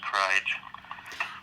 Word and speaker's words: KRYG: So it's K_R_Y_G_, and it's pronounced Kryge.